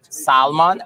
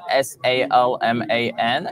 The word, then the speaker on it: Salman: Salman, S-A-L-M-A-N, okay.